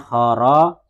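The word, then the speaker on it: خرجت: Kalau mu'annas nanti di belakangnya dikasih tak sukun. Jadi bacanya kharajat begitu.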